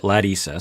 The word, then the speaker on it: Larissa: journey watching colt and larissa she pronounces it ladissa so i'm going to stick with that pronunciation uh 90 day fiance